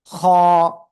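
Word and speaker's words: خ: সবাই খেয়াল করবেন, এখন যে অক্ষরটা আমরা শিখব সে অক্ষরটা একেবারে সহজ। এই যে দেখেন, এই যে অক্ষরটা, এই অক্ষরের নাম কি? খ। গলার শেষ ভাগ থেকে অক্ষরটা উচ্চারণ হবে।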